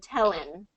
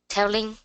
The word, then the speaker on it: telling: the doing and telling, you're pronouncing it doing and telling, and I want to get that ing ending in there. So doing, yeah, good, and telling. Yeah, there you go. So it's the slightest difference of just pronouncing it, the N in the front versus the N in the back.